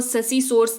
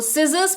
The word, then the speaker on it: scissors: जैसे सिजर्स, इसको SCISSORS, इसको ससी सोर्स नहीं, इसको सिजर्स पढ़ते हैं, जिसका मतलब होता है कैंची।